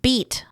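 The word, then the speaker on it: Bede: Oh, it's pronounced beat.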